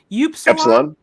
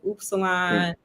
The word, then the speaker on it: epsilon: they how do they mispronounce it a lot Epsilon I heard Salon oh oops a lot okay I just heard they'll be like oops salon and tau is that tough Kimberly Jack Kimberly